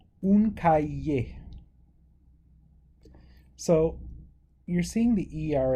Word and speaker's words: cahier: When we have an ER at the end of a word, it's pronounced this way, right?